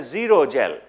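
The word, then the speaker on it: xerogel: left with is called a zero gel zero spelled with an X okay so that zero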